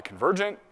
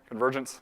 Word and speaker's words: Convergence: You probably got to go buy Convergent, right? Is there any Convergent guys in the room? Convergence? Sorry, said it wrong, right?